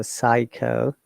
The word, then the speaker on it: psycho: Okay, for the PS cluster is P silent as you know. So psycho.